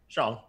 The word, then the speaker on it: Zhang: Yeah, Zhang. Zhang? I think there's a Z. When you see an X, it's Chinese. When you see that X, I think it's pronounced Z.